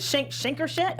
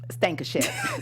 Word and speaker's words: Stankershett: I can't even pronounce it. Shankershett? Honey, it's Lorraine James Stankershett.